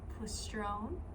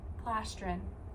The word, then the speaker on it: plastron: is the plon pestone I keep mixing it up plone we're going to stick with that no plastron plastron I just want to say it wrong plastron there we go the bottom part